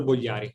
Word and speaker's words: Bogliari: So I invited Bogliari. That's how you say it? Almost. Okay, just tell it to me with the Italian accent. I need to hear that. Bogliari.